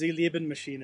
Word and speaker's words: Sie Lieben Maschinen: __ ] that is it's German okay it's pronounced Elia bin machine and okay I just